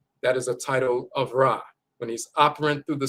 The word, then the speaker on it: Ra: And the god Rei is the sun god, and sun rays, they'll say Rei instead of Ra. They've always mispronounced it.